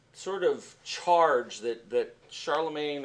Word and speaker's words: Charlemagne: of charge that that Charlemagne or Sharla Mons as somebody else would pronounce it has given to their